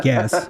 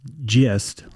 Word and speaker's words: Guess: I'm not asking you to guess. No, that's real. Yeah, but his father's name was Guess, sometimes pronounced Gist, like Gist or Guess.